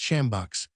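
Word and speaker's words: sjambok: From the beams hung joints of meat, masses of dried flesh, and various kinds of game, large whips termed shambach pronounced shambach made of rhinoceros or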